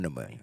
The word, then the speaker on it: pneumonia: Like, why is there a P in pneumonia? Don't know because it should be pneumonia.